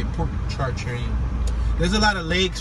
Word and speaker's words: Pontchartrain: The neighborhood began to develop in 1830 when the Pontchartrain Railroad connected the Faubourg Marigny.